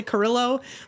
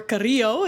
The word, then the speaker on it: Carrillo: It's Carillo, or if you're a typical American, you'll say Carillo, or Carrillo is how you really would pronounce it.